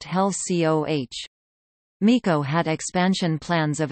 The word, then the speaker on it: HELCO: In 1970 HECO also acquired the Big Islands Hilo Electric Light Company, later to be renamed Hawaii Electric Light Company, abbreviated HELCO and pronounced HELCOH.